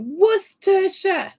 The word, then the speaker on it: Worcestershire: Worcestershire. Worcestershire. Yeah, Worcestershire. That's it. It looks like Worcestershire. You just don't say the R or half the letters in there.